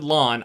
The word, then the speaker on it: Lan: So I was like, I guess I got to change it to Lawn. I've always said Lan, and then sure as hell they're calling him Lan in the show.